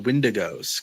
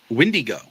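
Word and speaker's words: Wendigo: aspect of it and this is when the windos come in. Um, I've also realized that for most of my life I've been pronouncing that completely wrong. Um, it's actually pronounced as windy go.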